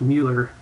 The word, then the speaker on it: Muller: Uh, this is actually pronounced Mueller.